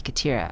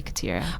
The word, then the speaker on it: Khatira: So they were like, "You're gonna be Khatira." I was like, "Cool, I'll be Khatira." Oh, but that's not how it's pronounced. The way it's pronounced is Khatira. So it's Khatira.